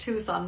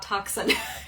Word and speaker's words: Tucson: um plurals from T Tucson I know that that's pronounced Tucson not toxin Arizona I'm Canadian so